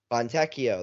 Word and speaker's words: Fontecchio: Simone Fontecchio, Fontecchio, there you go.